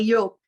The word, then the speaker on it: Joop: Não sei se o nome dele é Jupe, se a gente pronuncia assim, Jupe ou Yupe, não sei. Você sabe, Silvia? Sei, é Iop.